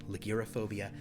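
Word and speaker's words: ligyrophobia: Time perhaps permanently uh I believe it is pronounced like you're a phobia l-i-g-y-r-o-p-h-o-b-i-a liquiraphobia the fear of loud noises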